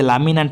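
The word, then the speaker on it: laminae: seasonal changes छाड़ो खाली अति कथा जानो जे लामिना हैला ज थिकनेस जो लेयर थिकनेस 1 सेंटीमीटर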